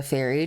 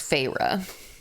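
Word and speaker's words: Feyre: explain her name because I was just calling her fair because it was spelled F E Y R E, but it's Fra.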